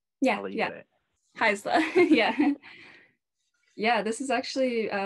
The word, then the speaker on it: Haisla: Haisla. Yeah. Yeah, this has actually been a really exciting program to be a part of. There are about 11 of us from the Haisla Nation taking this program.